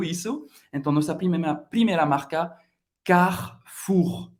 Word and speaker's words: Carrefour: Você vai ter que pronunciar esse R bem francês, bem gutural, ok? Carrefour. Você não vai pronunciar o E no meio.